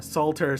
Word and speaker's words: Salter: Um anyway uh Salter Street. See I I pronounced the L that time.